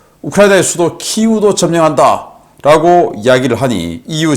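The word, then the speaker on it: 키이우: 키예프가 곧 점령될 거다. 오데사도 우리 염원이다 라고 이야기를 했어요. 여기는 이제 구소련식 발음, 러시아식으로 키예프라고 하죠. 그래서 곧 우크라이나의 수도 키우도 점령한다 라고 이야기를 하니,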